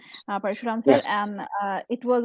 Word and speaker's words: Parshuram: Parshuram sir, sorry, I mispronounced your name. Parshuram Yeah.